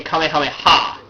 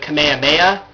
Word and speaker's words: Kamehameha: So the um that's why in Thai even in the English version they say Kamehameha they stress it instead of Kamehameha merging it all into one word pronouncing it Kamehameha Kamehameha is the right way